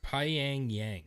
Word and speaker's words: Pyongyang: It's Pyongyang.